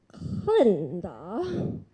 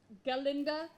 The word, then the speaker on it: Galinda: Miss Glinda. It's Galinda with a G.